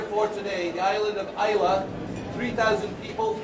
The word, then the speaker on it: Islay: me, Simon, is it Islay, is it Islay? Just remember, Islay means island, and you've got the pronunciation of the region.